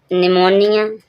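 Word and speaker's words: pneumonia: निमोनिया। निमोनिया क्या होता है? निमोन जो हर एक बुखार होता है। यहां पर पी साइलेंट है। पी साइलेंट क्यों है? ठीक में। यहां पर एन आया है इसलिए पी साइलेंट है।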